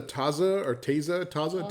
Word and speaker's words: Taza: Taza it's pronounced taza, which like a cup, the way you would use like a cup for tea.